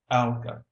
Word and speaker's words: alga: a group of plants singular alga pronounced ala one cell or many